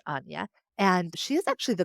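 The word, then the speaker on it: Áine: there's the Celtic goddess Anya, Aine, and I believe it's pronounced Anya.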